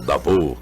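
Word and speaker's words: Davos: em dados na Suíça o davô como é a pronúncia bem porque o s em francês não se aceitar Ministro do meio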